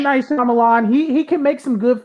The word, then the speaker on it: Shyamalan: Like, it's not Ong, it's Ang. Like, M. Night Shyamalan, he can make some good films.